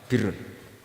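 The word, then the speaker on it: بِرّ: Tapi untuk masdarnya, untuk kebaikan bacanya apa? Birun. Nanti kamu protes. Oh, barun itu daratan, Gus. Kalau birun itu kebaikan.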